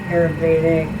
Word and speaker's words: Ayurvedic: So I think one really impressive thing about you is that you like Western medicine as well as holistic, Ayurvedic, I pronounced it right? Yeah, Ayurvedic, yeah.